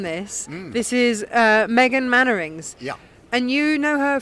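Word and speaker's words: Mainwaring: This is one that I only know how to pronounce it from, Right. from Dad's Army. Yes. Mannering. No, Mannering.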